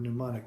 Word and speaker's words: mnemonic: to spell the word mnemonic without looking at it and it's not spelled like pneumonia m-n-e-m-o-n-i-c it's greek what is a mnemonic a